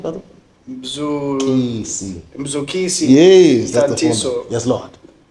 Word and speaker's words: Mzukisi: I think my name is easy to pronounce, Mzukisi, but then apparently it's not. Some people call Mzukisi, Mzukuzukuzei.